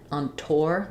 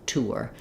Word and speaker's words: tour: There are some places and some people that will say this more like on tour. They'll use more of an or there, but for me and for a lot of native speakers, it's actually a full or tour.